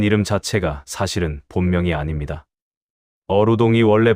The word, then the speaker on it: 어우동: 어루동이 원래 발음인데 이게 무슨 뜻인지 아시나요?